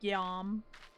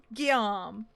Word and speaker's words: Guillaume: It's spelled like William, but it's Guillaume.